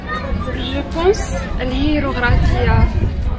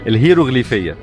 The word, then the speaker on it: الهيروغليفية: الهيروغرافيا. الهيروغرافيا. برافو عليك، انت عارفاها بس مش عارفه تنطق الاسم. مش متأكدة. الهيروغليفية.